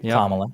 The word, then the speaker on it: Kamala: some things in him that I really wish kamla comma am I saying it right kamla yep okay we would show right now right